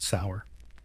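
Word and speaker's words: seiðr: Sometimes it was about magic, specifically a mysterious method called ceda, pronounced sour.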